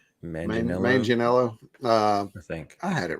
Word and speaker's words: Manganiello: Brandon, help me with the pronunciation of his last name. Manganiello.